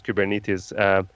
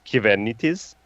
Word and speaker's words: Kubernetes: actually just to give you a secret everyone mispronounces Kuban it is the right way of saying kubernetes in greek is given it is I know this because I'm originally from Cyprus